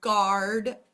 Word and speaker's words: guard: talk about the word guard um having this U next to it and being a little bit tricky here um this U is silent um and so we